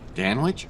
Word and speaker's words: Dan Wich: for the Endor deal Dan Wich are you kidding me rhymes with man witch and man witches are